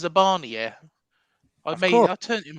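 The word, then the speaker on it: Zabarnyi: I used to call him Zabarini, but he's pronounced Zabania.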